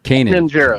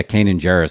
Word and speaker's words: Kanan Jarrus: Kanan Jarrus. Yeah, Kanan Jarrus.